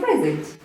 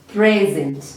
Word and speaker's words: present: So, which part of this word are we putting stress, or are we putting emphasis? Present. Present. Okay? I feel like it is the first part. So we are putting our emphasis on the first part, which is pre.